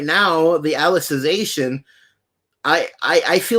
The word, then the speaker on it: Alicization: online uh alicization or it's hard to pronounce it's it is alicization is what it is um and you only